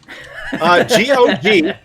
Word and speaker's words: GOG: game right now on GOG and Steam. That's what I said. Excellent. So how do you spell that? GOG. And yeah, it's pronounced either GOG or GOG, but I know it's on both of them.